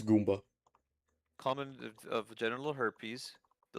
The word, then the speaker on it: gumma: It's gumma.